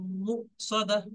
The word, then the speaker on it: مؤصدة: التي تطلع على الأفئدة، إنها، ها ألف زبر، ها ألف المادة، إنها عليهم مؤصدة। এখানে একটা জিনিস দেখেন, মিম ওয়াও পেশ, মু বলে কেউ এটা ওয়াও মাদ্দা ভেবে একাধিক পরিমাণ টান দেবেন না, কারণ এখানে দেখেন ওয়াওর